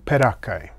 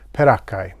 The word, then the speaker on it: peraccae: little armored one but many people aren't sure how to pronounce the word perakai and have no idea what it means it turns out that perakka is an italian last name and there was an